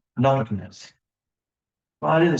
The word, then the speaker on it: nattokinase: Some people say natural kinase. What's the fellow's name over in Dillingham, this Japanese fellow? Fred Nishimura? Yes. Oh, So Fred taught me the proper way to say it. It comes from the natto plant. And it's nattokinase.